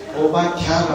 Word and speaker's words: 오바댜: 다에서 야로 바꿨어요. 오바댜가 맞습니다. 그런데 사실은 히브리어를 아무리 우리말로 잘 표현해도 완벽하게 표현은 안 됩니다. 그런데 이 오바댜가 살던 시대는 이스라엘의 7번째 왕이었던 아합이 다스리던 시대입니다.